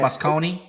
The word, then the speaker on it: Moscone: Oh, that's how you say it, Moscone?